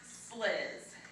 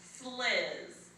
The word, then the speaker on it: Sliz: Okay, so it's pronounced Sliz. It is S as in Sam, L as in llama, I as in igloo, S as in Sam, Z as in zebra.